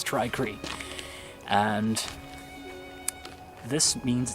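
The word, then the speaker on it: Tri-Cree: a try Cree light I've been pronouncing a try see for some reason it's try Creek and this means it's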